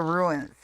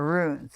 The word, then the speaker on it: runes: always call them the ruins and they're not it's the ruins it rhymes with tunes and is actually spelled like Tunes okay so well no